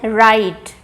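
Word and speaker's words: write: Alternative spellings क्या है राइट, WR but sound क्या है र, राइट।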